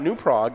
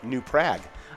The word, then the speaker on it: New Prague: and it is uh pronounced in not newprog it's pronounced new prague ah is that the